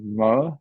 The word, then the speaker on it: Moher: Cliffs of I don't know how to say it, Cliffs of Moher. Cliffs of Moher, Nailed it.